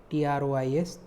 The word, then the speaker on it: trois: 3 is trois, T-R-O-I-S, trois, S is silent, trois.